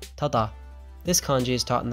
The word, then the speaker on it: 正: history of these kanji today's kanji is correct pronounced sei tata this kanji is taught in the first grain